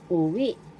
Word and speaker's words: uwi: Uwi go home in English. Second syllable V is the accent.